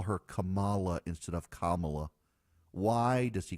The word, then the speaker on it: Kamala: but not Donald Trump who says Cala like a lot of people say Kamala because when you look at her name it's spelled k a m a l a m